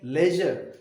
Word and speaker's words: leisure: ये 2 क्वेश्चंस हैं, ये 2 क्वेश्चन लेजर पोएम में से, लेयर नहीं लेजर, लेजर इसकी प्रोनाउंसिएशन है।